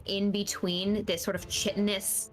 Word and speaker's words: chitinous: chitinous?